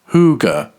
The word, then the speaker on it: hygge: Hygge, pronounced Hygge, is a Scandinavian way of life that celebrates